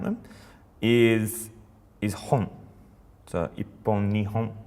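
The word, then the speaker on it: 日本: we can write a word, which is Japan, ni, hon.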